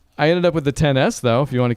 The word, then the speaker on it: XS: ended up with the 10s though if you want to keep that was a decision and a half a 10s no yeah again that's how they say it's not an XS which when the iPhone